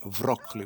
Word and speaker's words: broccoli: They pronounce it here in this village as vroccoli with a V.